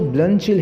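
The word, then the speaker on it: Bluntschli: है स्टूडेंट्स यहां पर जो ब्लचिल है इसकी स्पेलिंग तो देखिए अलग है लेकिन इसका जो प्रोनंसिएशन है वह बल चिल पर पढ़ेंगे ये एक स्विस वर्ड है तो ये लिखा किसी और तरह से गया है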